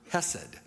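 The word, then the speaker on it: חסד: It's the Hebrew word hessed. But if you say it correctly in Hebrew, you add a sound to it like you're going to spit. So it's like that. But in English, you could just say hessid. That's easier.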